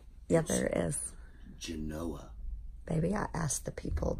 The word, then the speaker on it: Genoa: Genoa.